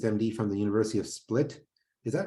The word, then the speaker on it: Split: So Yvonne graduated with his MD from the University of Split. Is that right, Yvonne? Is that how you pronounce it?